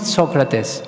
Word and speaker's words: Socrates: He loved Socrates so much. One time in an interview he said, the right pronunciation of his name is not Socrates, it's Socrates. This is really the Greek pronunciation.